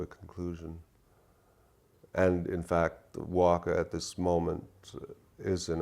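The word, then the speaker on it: Wakaw: And in fact, Waka at this moment is in a state of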